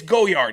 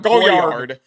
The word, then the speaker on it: Goyard: love that you pronounced goyard like goer like that that's not really what I'm looking for how would you pronounce it goyard it's goyard it's like Gogurt it's goyard it's not goard goyard oh I'm going to